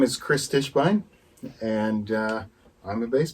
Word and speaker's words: Kris Tischbein: your full name because i hate when i mispronounce people's names my name is chris stishbein and uh i'm a bass player that's right